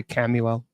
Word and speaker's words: Chamuel: h m u l some people say camel uh c h m